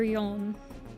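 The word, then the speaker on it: 四: So four can be pronounced as she or yon. But she is also how you pronounce death. So when you're saying like each but like if you're just saying four, you usually just use yol.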